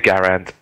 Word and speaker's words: Garand: I'm just pronouncing Garand correctly, as Menace did pick me up on it as well. And it's now 4-2 the score. Do you want to say it my way?